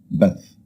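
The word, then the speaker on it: بث: The first one is the ba, and the second letter is the thaa. So we pronounce it as bath.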